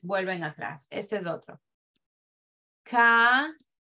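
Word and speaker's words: קרא: Ka-ra. La alef al final es muda. Si, no, al final es muda. No va a tener ninguna vocal.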